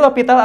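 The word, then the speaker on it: L'Hôpital: Dibacanya L'Hopital ya, atau boleh juga ditulis hospital, boleh juga lah ya. Tapi tetap dibacanya dalil L'Hopital.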